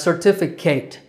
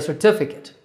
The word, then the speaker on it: certificate: mispronounce this word as certificate but your name doesn't have to be Kate for you to get a certificate now that's a terrible joke but just remember that that last syllable is KITT sir t feet KITT